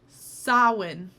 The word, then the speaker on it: Samhain: oh my god my entire life i've been mispronouncing sawin it's fine it's fine celebrate or know someone